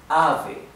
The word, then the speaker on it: ave: And the e is not e, it's e, right? Compact and open e, with your open mouth, e, right? Ave, ave. If you separate it in syllables, maybe easier to focus on the right pronunciation of the vowels. A, not a, it's a. And ve.